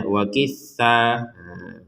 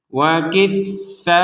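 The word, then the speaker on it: وَقِثَّائِهَا: Tidak boleh dibaca wa kisah. Kisah nggak boleh. Ini satu kesatuan, maka dibaca 4 sampai 5 harokat. Wa kisaiha wa fumiha wa adasiha wa basaliha.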